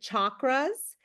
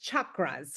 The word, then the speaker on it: chakras: are chakras uh often you will hear folks pronounce it chakras but just so you know it's chakras right is kind of the way we pronounce